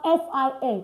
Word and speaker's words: fin: Like when you have F-I-N, it's fin. Fin. Not fin. Right? You have C-I-N-Q, it's sunk. Sunk. Sunk. Not sink. Why? Because the I-N is pronounced A in French.